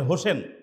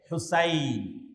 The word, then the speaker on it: হুসাইন: সঠিক উচ্চারণ হচ্ছে আহমদ অনেকের নামের শেষে হোসেন আছে হোসেন কিন্তু সঠিক উচ্চারণ হচ্ছে হুসাইন।